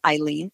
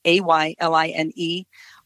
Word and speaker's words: Ayline: So maybe now everyone will remember it's Ayline, pronounced Ayline, Ayline, which is.